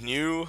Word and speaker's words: 牛: The word's pronounced new, actually.